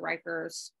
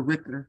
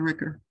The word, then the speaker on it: Ricker: to piggyback on Major Rikers as the public safety officer. Yes, ma'am. Thank you, Madam Chair. I think he pronounces it, Madam Chair Ricker. Is that correct, Major Ricker? Yes, it is.